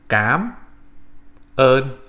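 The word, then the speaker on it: Cám ơn: It's pronounced Cám, ơn, all right? So the first word is pronounced Cám, and then ơn.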